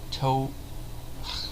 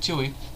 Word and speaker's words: Twohy: and directed by David I'm gonna see if I can pronounce his name correctly toe I'm gonna probably watched his name t-w-o-h-y you see I can't believe it you know just look I can't believe I thought that would be hard to pronounce David Tui it of course is